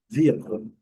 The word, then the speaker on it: vehicle: Lembrando, a sílaba forte é a primeira.